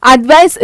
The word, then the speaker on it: advice: The C in advice is pronounced with the sound of S sound. So அதோட எஸ்ஸோட sound என்ன, அப்படிதானே. Okay, அட்வைஸ் இஸ் a noun meaning recommending regarding a decision.